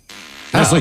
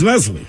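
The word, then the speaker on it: Nestlé: and get it going are you saying Nestle on purpose that a nest Nestle Nestle nesle chocolate oh I guess I said it wrong Nestle I like Nest sounds like we should no it's nesle Nestle huh it's like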